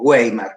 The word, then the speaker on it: Weimar: República de Weimar o Weimar, en realidad es una W, se pronuncia como B, por la ciudad en la que se redactó y se acordó la Constitución.